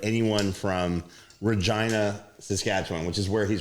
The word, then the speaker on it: Regina: So, you're pretty much just describing like anyone from Regina, Saskatchewan, which is where he's from. By the way, by the way, it is pronounced Regina. Uh why? Cuz why say Regina?